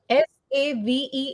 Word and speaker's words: save: no said said okay s a v e is save it's a long sound because e is there in the end so if you see